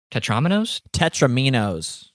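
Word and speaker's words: tetromino: Tetraminos?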